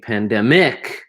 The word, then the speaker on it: pandemic: You notice how the stress, there's the syllable of each of these words, the stress can be different. Where you instead of saying pandemic, you say pandemic. So the stress is in the middle of the word here. Pandemic. Has 3 syllables.